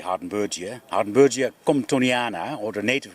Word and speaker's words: Hardenbergia: So this is Hardenbergia. I'll pronounce it in the German way. We would say Hardenbergia.